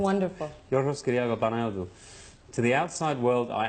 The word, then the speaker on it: Yorgos Kyriakou Panayotou: My name is Yorgos Kyriakou Panayotou. That's really how it's said. It's wonderful. Yorgos Kyriakou Panayotou.